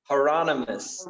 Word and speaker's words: Hieronymus: Hieronymous. It's the. It's a. It's the. Hieronymous Bogs, right? Hieronymous.